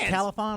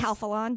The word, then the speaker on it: Calphalon: Califon, or how do you say it? Yes. Calphalon.